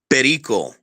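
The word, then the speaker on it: Perio: Pero.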